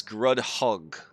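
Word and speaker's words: Grudd Haug: near correctly guru hug google tells me it's grudge hug yeah it's grudge hug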